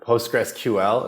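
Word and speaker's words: PostgreSQL: many things with SQL you can turn postgress SQL or postgressql is that I think that's how you say it right yeah yeah I'll allow it okay yeah okay it's got the Johnny stamp of approval you can turn post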